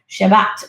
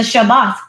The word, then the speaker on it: Shabbat: Shabbat is is I believe how they say it in Hebrew.